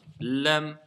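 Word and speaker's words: لام: Donc la lettre Lam, prononciation très facile. C'est comme le L français, le Lali.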